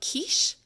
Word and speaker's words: Quiche: There, right here, is Kish, who is, in the newer translations of it, because this is a Japanese comic book, it's spelled Quiche, so like the dessert pastry.